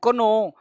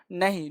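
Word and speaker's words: know: आप देखो इसको कोनो पढ़ते हैं, कोनो नहीं, नो पढ़ते हैं। के चुप रहता है भाई, देखो क्या पढ़ते हैं, नो, नॉट, नाइफ। के चुप रहता है, यानी लिखने में आता है लेकिन साउंड बोलने में नहीं आता। इसको कोनो नहीं पढ़ेंगे, इसको नो पढ़ेंगे।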